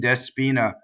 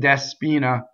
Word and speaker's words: Despina: English word right so don't sing despina its day the accent is on the e Despina so the e is a right and so when you sing you're going to separate day Spina now the last line